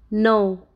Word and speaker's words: know: Letter K is silent before N. Let's look some examples. Knee, kneel, knife, not, know, knowledge.